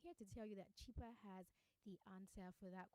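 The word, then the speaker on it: Chiper: locally and across borders now cheaper is spelled c-h-i-p-e-r and yes it's an app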